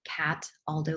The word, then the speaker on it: Cataldo: And it sounds like it's spelled cat Aldo, like the shoe.